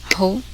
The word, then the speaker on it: who: The letter W is silent in the following words. Listen and repeat each word after the speaker. Who, home, house, hall, ran, right, wrong, sword, to, toward, knowledge.